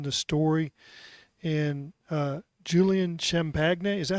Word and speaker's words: Champagnie: like story within the story and uh Julian Champagnie, is that how you say his name? Champagnie.